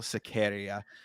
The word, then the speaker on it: Sequeira: This is Abdul Rahman Yakiaev versus Rafael Sequeira. Sequeira. Is how Um, they pronounce.